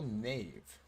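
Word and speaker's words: knave: Guiltful nave. I've never seen that word written down anywhere. I had no idea it had a silent K in it. I thought it was like n a i ve nave.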